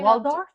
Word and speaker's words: Waldorf: Waldorf salad is named for the Waldorf Astoria Hotel in New York City. But you know the R is silent.